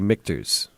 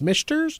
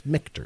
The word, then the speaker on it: Michter's: me to go um I want to say mters well you said it right it is I did yes it's mters okay yeah m i and that's where people get that messed up it's MERS no it's mters yeah it but just